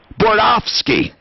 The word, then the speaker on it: Bordofsky: It's the city of Denver, and it's Marley Bordofsky. Marley is in charge of this. It's Bordofsky. Bordofsky. She corrected me, Tom. Bordofsky. Spell it any way you want. It's pronounced Bordofsky. Bordofsky.